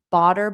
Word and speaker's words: butter: Butter butter. Bter butter. And yes, native speakers, native American speakers, we pronounce t's between vowels as a d.